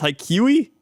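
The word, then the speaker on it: Haikyu!!: hold on yes okay it's High Q so it's haikui haikui I've never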